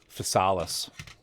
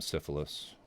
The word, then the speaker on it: Physalis: We're working on the shield for the Solomon third-party Physalis. I'm saying it correctly now. Because I was told to stop calling it the Gundam Syphilis.